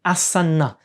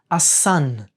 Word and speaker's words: asana: sound so the the word asana will always be the asana in sanskrit however in hindi we tend to drop that in Hindi and Marathi and so the same word is going to be pronounced in Hindi a son and the same goes